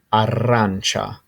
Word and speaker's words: arancia: orange and the way to say this is arancha and there's the spelling of it next slide